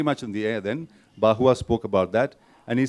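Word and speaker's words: Barrois: is a gentleman called bahua I mean it's a French name it's b-a-r-r-o-i-s pronounced who spoke about the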